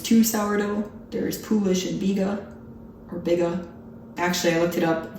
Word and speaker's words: biga: There's poolish and biga. Actually, I looked it up. The American pronunciation is biga. The British pronunciation is apparently biga. I've been saying biga, so apparently I think I'm British, but I'm not.